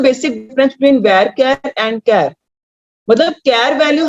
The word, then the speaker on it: CHAR: मैं दोबारा से फिर करवा दूंगी, एक बार देख लो, इनको समझ लो, माइंड में रख लो। एंड वन मोर थिंग, ये आपका है प्रोनाउंसिएशन कैर, CHAR कैर, इसको चार नहीं बोलना।